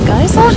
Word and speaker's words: geyser: the geyser okay fun guys would you say geyser I'd say guys I feel like this different way to pronounce it so for the